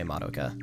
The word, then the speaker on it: Madoka: Yeah, I'm one of those people who emphasize the first syllable. So I say Natsuki and I say Naruto and I say Madoka.